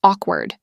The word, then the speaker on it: awkward: The silence after the joke was awkward. 3. My first job interview felt awkward because I didn't know what to say. Pronunciation tip. Awkward rhymes with chalkbird.